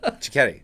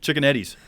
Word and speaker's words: Ciocchetti: Can you spell it? Spelling it. Ciocchetti. Yeah. Chicken Eddie's.